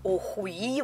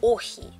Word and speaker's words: охи: То есть русские прочитать нормально не могут, читают охуи, вот так. Читается охи.